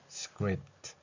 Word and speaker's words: script: scrips scrips 이렇게 표현됩니다 물론 맨 마지막에 S 없을 때 즉 단수로서 표현될 때는 script 이렇게 티 소리가 나지만 자음 세 개가 겹쳐